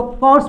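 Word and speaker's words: course: अब इसका जो उच्चारण है, यहाँ पे इसका उच्चारण जो है ये औ का आ रहा है, ये वाला उच्चारण आ रहा है औ।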